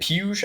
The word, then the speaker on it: Puig: finish last year David piyush I always want to call him Puig because it spilled spelled like Yasiel Puig but he's a young